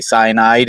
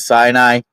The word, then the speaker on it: Sinai: I may mispronounce this as I go through and say cyanide instead of Sinai.